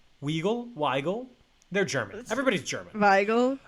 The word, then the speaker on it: Weigel: Weigel, because the W is pronounced like a V, right?